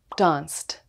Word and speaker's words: danced: The verb dance ends with the S sound. So dance with the ED is pronounced as danced.